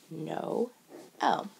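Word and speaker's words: Noël: french means christmas and instead of pronouncing these two letters together they're going to pronounce them separately no o that's what the drama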